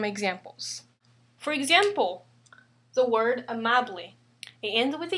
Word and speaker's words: amable: So there are 3 syllables in this word, second to the last, which was this one. That's why we pronounce it as amable, not amable or amable. The stress falls second to the last syllable.